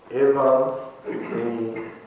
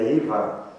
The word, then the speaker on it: evam: Evam, em sânscrito, a pronúncia é assim, mas se fosse lida em inglês seria Ivan.